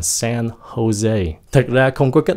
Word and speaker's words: San Jose: Không phải là San Jose nha, San Jose.